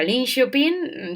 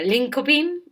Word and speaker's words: Linköping: shopping que por cierto se pronuncia Lin shopin sí antes de irme yo también decía linkoping y mi coordinadora me decía linkoping O sea que no link shopping Chicos antes de todo